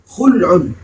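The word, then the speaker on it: خلع: beliau menyatakan wahua kata-kata Khuli alamati dengan mendamahkan huruf k almjamati yang ada titiknya berarti Bacanya adalah khulun kata-kata khulun itu must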